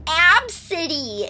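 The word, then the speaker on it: Abcde: It's you know those things where people are like, yeah, her name is Absidy, A-B-C-D-E. But it's pronounced Absidy.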